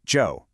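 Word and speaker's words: Zhou: And that's spelled Z H O U, but we pronounce it Joe.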